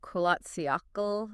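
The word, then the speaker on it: Kholat Syakhl: And this is on the slopes of Kolatsiakl, if I'm pronouncing that right.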